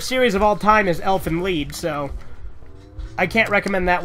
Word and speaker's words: Elfen Lied: li e d so it's spelled like Elfen Lied but it's pronounced elfin lead but yeah it's e